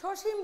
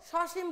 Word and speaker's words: সসীম: এটাকে সসীম বলবো না, কি বলবো? সসীম বলবো। কারণ স যদি সহিত অর্থে ব্যবহৃত হয় তাহলে স এর উচ্চারণ কি হবে? অ এর উচ্চারণটা এখানে অ থাকবে, ও হবে না।